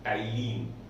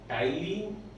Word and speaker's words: ptyalin: Here the P T is silent, and that's why the name is Tyline. Tyline is also known as salivary amylase.